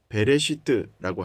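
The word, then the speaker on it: בראשית: 히브리어로는 베레시트라고 합니다.이 단어는 단순히 아주 오래전에라는 뜻이 아닙니다.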